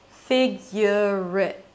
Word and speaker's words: figure it: And if I connect the two words together, it sounds like figure it. Because the R in the word figure becomes the beginning of the word it.